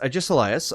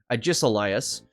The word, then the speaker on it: Agesilaus: Or Ages Silas or something. Now, the way you pronounce that is Agesilaus. And if you look at it in a written format, you can actually pronounce it. It's Agesilaus.